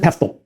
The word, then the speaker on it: PESTCL: The shorthand for this is PESTCL. Some pronounce it PESTL.